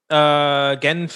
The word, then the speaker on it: Genf: Genf is in German, but you say Geneva. Genève. Geneva.